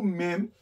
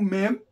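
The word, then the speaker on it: מ: gente ganhar espaço então o mem está na posição de número 40 e o mem é a letra me me letra me no português a gente fala M Ok no hebraico não tem essa pronúncia então é o me me M Ok letra m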